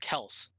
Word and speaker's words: Kelce: That reminds me of Travis Kelce because his brother says it's actually pronounced Kels. Ah. But Travis Kelce says Travis Oh, Kelce when you see Kelce.